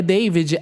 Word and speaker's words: D4VD: Eu vou só conferir aqui o nome do novo álbum dele, mas assim, David, o nome dele escreve diferente, tá? É David, é D4VD.